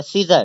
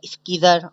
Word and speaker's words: scissor: अच्छा सीजर कहते हैं कैची को, अच्छा SCISSOR लिखा तो है स्कीजर, अगर आप सही से प्रोनाउंस करें तो स्कीजर पढ़ा जाएगा, लेकिन इसका सही प्रोनाउंस जो है वो सीजर पढ़ा जाता है, ठीक है। एस साइलेंट होता है, साइलेंट उसे कहते हैं